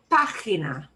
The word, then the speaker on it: página: Página. Página. Página. And that accent on the ah means we punch that more.